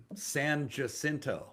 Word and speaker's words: San Jacinto: i have they have that street um san jacinto that's just that's just how it's pronounced people must be oh